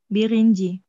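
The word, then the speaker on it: birinci: Berarti bir ditambah inji bacanya? Birinji. Ewet, birinji.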